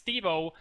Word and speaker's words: S73v0: be playing against Stevo, or however you decide to pronounce it, as there are numbers in his name, but it's Stevo, and he will be playing as the Soviets.